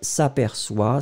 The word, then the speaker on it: s'aperçoit: Et vous voyez que comme il y a un O, on doit mettre la cédille, hein, tout simplement pour avoir le son s. Alors, elle s'aperçoit, si vous avez la cédille, ce serait formidable.